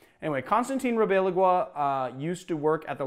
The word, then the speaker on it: Ribalaigua: I think that's how it's pronounced. You know what? I've written it below. You guys can correct me if you want, but I think it's Ribalaigua. Anyway, Constantino Ribalaigua used to work at